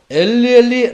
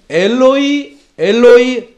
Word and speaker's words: 엘로이: 만들려고 조금 바꾼 듯합니다.이 이 마가복음에 쓰인 정확한 발음은 엘리엘리 라마 사박다니가 아니고 엘로이 엘로이 레마 사바크탄입니다.이 말씀은 그 당시 유대인들이 사용하던 아라머입니다.